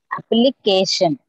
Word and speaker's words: application: with the phonetic transcription accent on the third syllable yes application disappointment understand on the using the accent as well can you use can you pronounce them correctly application application okay yes application it is in the third selection yes okay this appointment